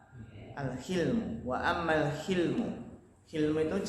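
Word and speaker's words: الحلم: Wa ammal hilmu, ya afan bacanya bukan hulum tapi apa? Al-hilmu.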